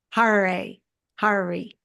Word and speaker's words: Harary: I'm talking to har Hari it rhymes with Ferrari and he's a longtime